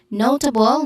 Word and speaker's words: notable: Notable, no is the stressed syllable, which has a diphthong sound. O. Notable.